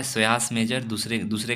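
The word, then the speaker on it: psoas: है पहले आता है सयास मेजर पी साइलेंट है इधर स्वस मेजर होता है नाम याद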